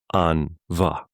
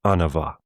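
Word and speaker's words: an-mhaith: So if you were to describe very good in Irish, the closest thing you'd come up with is an va. An, A-N, va, M-H, making that V sound, A-I-T-H, an va. But the way that I would say it is anava, anava.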